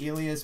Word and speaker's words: Elias: like howdy Peterson says how do you want your name said he's like alias Peterson ooh Ilyas Ilyas yeah Elia spender